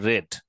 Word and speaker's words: read: I read that, এই শব্দটার উচ্চারণ কিন্তু রেড, কারণ ও পাস্ট টেন্সে বলছে, তাই না?